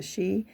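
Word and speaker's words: sídhe: That's that looks like Sidhei, but it's pronounced the she.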